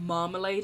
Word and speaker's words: marmalade: thought about how weird the word marmalade is three a's all pronounced differently i realized that when